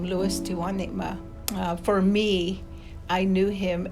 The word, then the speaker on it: Tewanima: Tewanima, that's how you would pronounce his name, Louis Tewanima.